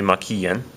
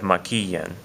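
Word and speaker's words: maquillen: We have maquillan, maquillan. So when I say maquillan, you can hear that the stress is right here. It's over that I. It's on the third syllable back from the end of this word maquillan.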